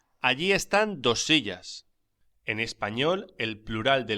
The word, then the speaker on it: silla: Una silla. Pronúnciese silla.